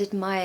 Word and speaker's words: admire: We just say mire, mire. There's no R there, completely missing.